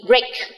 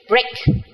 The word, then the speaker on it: break: trong từ gre gre gre hoặc giờ nghỉ Break Break Break có thể đọc đọc là y dài trong các từ như sau